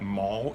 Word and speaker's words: Mall: is called The Mao it looks like mall m-a-l-l but it's pronounced Mal and there's Cavalry there's